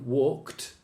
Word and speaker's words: walked: Like walked is a T.